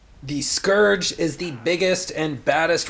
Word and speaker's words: Scourge: And remember, don't forget this one thing, it's pronounced Scourge, not Scourge, or people will get mad at you in the comments that you're saying it wrong.